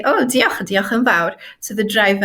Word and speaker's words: diolch: So for example, the ch sound, which I find it really easy to pronounce, it couldn't be the same for someone who's English, for example. Because I am able to pronounce it properly, I feel like I'm connected to this language. So a word like diolch, for example, diolch yn fawr, thank